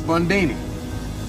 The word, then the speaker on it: Bundini: Bundini. Rhymes with Houdini, yeah, except that don't rhyme.